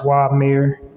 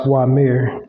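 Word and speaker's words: Uamer: mayor Farm in this build u-a-m-e-r but it's pronounced why mayor so yeah and then let me just fact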